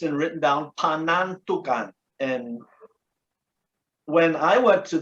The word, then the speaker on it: Panantukan: It's just pronounced wrong. It's Panantukan.